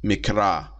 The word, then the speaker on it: Mikra: the Hebrew Bible the mikra mikra uh m i k no sorry m i q r a mikra which is used for